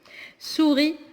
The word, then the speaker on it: souris: Souris, on ne prononce pas le S.